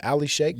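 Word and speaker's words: Al-Sheikh: How you say his name? Ali Sheikh. You nailed Al it. Sheikh. You nailed it.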